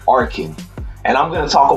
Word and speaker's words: Arkin: alan corrin oh well let me say his name properly i don't want to mess up is arkhan arkin and i'm going to